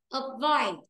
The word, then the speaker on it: avoid: À, nó sẽ rơi âm 2. Bởi vì đấy là động từ, bắt đầu là chữ A, nó không có trọng âm. Sẽ rơi vào âm 2. Avoid.